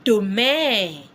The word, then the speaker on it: demain: Another one is domain. Tomorrow. That means tomorrow. DE. Can you see the way I pronounce the word?